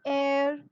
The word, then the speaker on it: heir: Instead of that, H is silent over here. You start with the vowel sound.